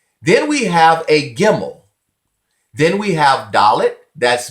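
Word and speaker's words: גימל: have a dot in the middle this is pronounced as a hard sound it is bet this is gimel gimel this is Dola Dola then we have pay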